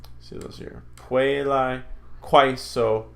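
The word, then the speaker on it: quaeso: So, a, is pronounced I, as in aisle. So puelai, quaiso, saipa. See those here. Puelai, quaiso, saipa.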